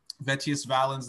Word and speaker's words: Vettius Valens: about is the guy vetius valens did i say his name right um vetius valenz the that one yeah he was an old